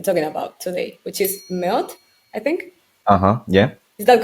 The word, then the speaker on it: 멋: about today, which is Meot, I think. Yeah. Is that correct? So it's pronounced mot, Mot. like kind of like M-O-T. Yeah, like mot.